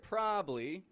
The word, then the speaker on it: probably: quickly so of course the word probably or probably is spelled p r o b abl l y p r o b a b l y this is spelled as a three syllable word there are three units